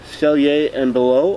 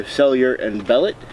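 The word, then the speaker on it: Sellier & Bellot: We have Cellier and Below, or Cellier and Bellet, however you want to pronounce it.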